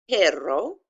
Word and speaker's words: perro: And so this would be pronounced a little bit different because those 2 R's together, you have to try and do the little tricky trill. But anyhow, it's mi perro comerá más tarde.